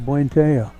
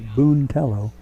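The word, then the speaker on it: Buentello: strike on one to buenteo swinging them in fooling with the speed on that 102. puente is spelled b-u-e-n-t-e-l-l-o looks like boontello buenteo here's the o2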